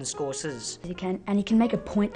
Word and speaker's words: Scorsese: He's like Michael Moore, but in another way, Scorsese, because he can capture remarkable shots in the way that Martin Scorsese... It's actually pronounced Martin Scorsese.